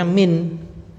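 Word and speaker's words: مِن: Nah, kemudian di situ sama-sama dengan tulisan man di atas, tapi ini bacanya min. Karena dilihat konteks kalimat.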